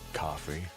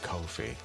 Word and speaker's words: Ko-fi: We figured it would be coffee. Apparently Ko-fi.